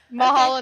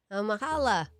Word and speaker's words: Mahalo: Mahalo nui loa to your audience, and thank you to both of you as well. Mahala. Wait, is that how you say it? Hello. Mahalo. Mahalo. Beautiful.